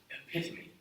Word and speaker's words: epitome: To whom it may concern, it's pronounced epitome.